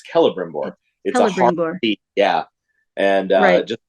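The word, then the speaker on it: Celebrimbor: now you know people are knowing how to pronounce some of these names that maybe they've read and not like it's it's not celebram or it's calibrom board yeah and uh just all those little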